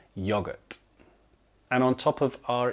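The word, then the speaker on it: yoghurt: But in Britain, we spell it with an H and we pronounce it still yogurt.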